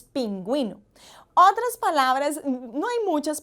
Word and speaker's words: pingüino: Entonces, cuando vemos esos dos punticos allí, sabemos que tenemos que pronunciar la U en esa sílaba. No son muchas palabras, ya de antemano podemos ir diciendo, pero miren, por ejemplo, cuando tenemos la palabra pingüino, en esos casos lleva la diéresis y pronunciamos de esa manera, no decimos pinguino, decimos pingüino.